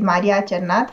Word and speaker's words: Maria Cernat: you for inviting me my name is indeed mariacharnath for thank you for the very good pronunciation uh i teach in romania into universities